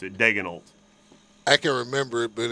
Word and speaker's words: Daigneault: Mark Daigneault.